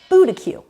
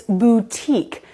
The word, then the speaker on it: boutique: And a friend of mine once heard someone say this word as boutique, but it's not, it's boutique.